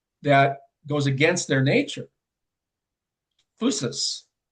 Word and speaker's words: physis: In Greek antiquity, they talk the physis. That's how they pronounce it.